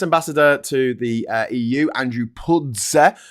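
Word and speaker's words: Puzder: US ambassador to the EU, Andrew Pudze, called this fine absolute garbage and labelled the DSA as excessive regulatory overreach.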